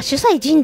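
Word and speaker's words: 主祭神: い、主祭神、あ、主祭神って読むんですね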